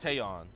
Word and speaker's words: Tayon: How do you pronounce it? Tayon.